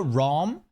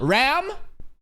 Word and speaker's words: Ram: Instead of the Rom, it is going a little bit the vowel is changing more into a spectrum of the A, but it's still not there. I would give it like 70 like 25% like change in the phonetics of O to A, but still not there. I'm Ram, ah ah ah ah, Ram? Rem? Rom? These are three distinct vowels.